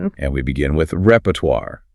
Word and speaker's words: repertoire: And we begin with repertoire, pronounced rehert. Rehertoire. The challenge here is entirely that French origin again complicating the ending sound, isn't it? It is. That war ending often gives learners trouble.